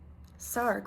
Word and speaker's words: Sarg: anthony tony frederick sarg sarg rhymes with ark every movement has a